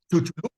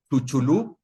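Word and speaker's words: Chicxulub: Chulub. Yeah, say it again. Chulub.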